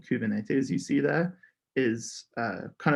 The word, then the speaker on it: Kubernetes: how to pronounce kubernetes i think you said it was kubernetes kubernetes okay because that's one that